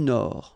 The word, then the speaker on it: Nord: La mer du Nord. Final D not pronounced.